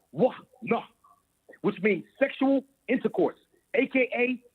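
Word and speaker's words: עונה: In the modern Hebrew, in the ancient Hebrew, it is pronounced Wah-nah, which means sexual intercourse, a.k.a.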